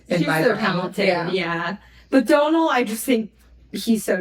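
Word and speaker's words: Domhnall: That is how you say your name. It's Donald.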